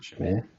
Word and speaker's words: Shamir: Shamar. I forgot. Let me just get the pronunciation. Shamir.